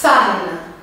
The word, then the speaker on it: femme: a palavra mulher como que é em francês fana então Fama em português assim quando a gente